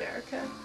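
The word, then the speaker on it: Ayrka: Erica there anyways, but her name is Erica, and it's spelled A-Y-R-K-A. Erica.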